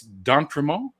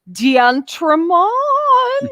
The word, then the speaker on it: d'Entremont: the absolute pleasure of chatting with it's don promo oh you pronounced it correctly i'm so emotional like a